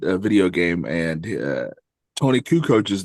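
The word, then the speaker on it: Kukoč: basketball game and a video game, and Tony Kukoch's name came up, and Trevor pronounced Kukoc as Kukok, and I never got over that.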